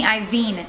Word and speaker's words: Iovine: Dre and Jimmy I see I think that is his name me double check okay Jimmy Iovine not Jimmy Ivey I think that's how you pronounce it anyways but anyways it's a four-part documentary on HBO about dr.